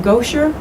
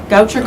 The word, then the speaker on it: Goucher: our traveling gal um she attended do I pronounce that goer College Goucher College in Maryland for a year on academic